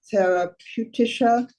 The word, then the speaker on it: therapeutische: Deine Passagiere sind noch immer in therapeutische Etwas. Bitte geh, bevor sie dich sehen. Behandlung. Ja, Deine ganz, ja. Passagiere sind noch immer in therapeutischer Behandlung.